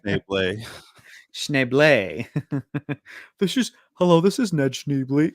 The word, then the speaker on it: Schneebly: Pronounced Schneebly.